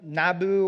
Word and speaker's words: Nabu: Interesting that the Babylonian god of wisdom, Nabu or Nebo, however you want to pronounce it, would have been the god of wisdom.